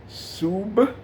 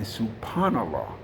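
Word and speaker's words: سبحان الله: So, the word is Subhanallah. Sub, and it's very important, emphasize that B sound at the end.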